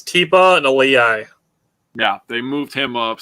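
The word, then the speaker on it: Tipa Galeai: It's Tipa and Aliyai.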